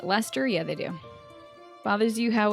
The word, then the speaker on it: Leicester: Do they spell it Leicester here but still pronounce it Lester?